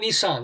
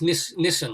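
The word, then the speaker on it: Nessen: Oh no, it's not Nissan. It's Nissen, like Harold Nissen, the secretary of under Nixon or something.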